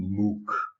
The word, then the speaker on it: Mook: This is Robby Mook. He likes to pronounce his name Mook. It's M-O-O-K. I pronounce that Mook.